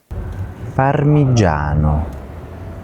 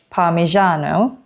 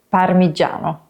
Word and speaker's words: Parmigiano: Sometimes people say it like Parmigiano, like in the word Asian, but in Italian it's a G, like in aging, G, Parmigiano.